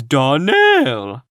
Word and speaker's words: Donnell: morning connected with the donald children clary salmiro told me that you pronounced our name donal now miss shirley the correct pronunciation of our name is darnell accent on the last syllable i hope you'll remember